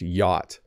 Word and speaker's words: yacht: But it's just yacht. You can ignore the C and the H.